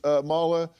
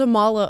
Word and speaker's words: Amala: is so funny uh I get called Amala a lot which makes sense my name is spelled that way and you if you don't know that would be probably the inflection you'd use as Amala and I was in